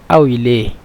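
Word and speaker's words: قوي: কওই ছিল, কওই মানে কওইকে মিশরে আউই বলে, মানে কফকে হামজা, এই জন্য একসাথে আউই লিখে দিলাম।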